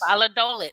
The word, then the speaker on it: Valladolid: Valladolid, say it right. Yes. Valladolid. Hey, I said it right.